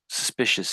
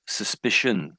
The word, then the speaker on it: suspicion: So so the reason it because I think you said um I think you said suspicious. Suspicious here. But the real word is suspicion.